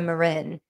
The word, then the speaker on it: Marin: something and i saw sana marin or marin depending on how people pronounce it so sono marin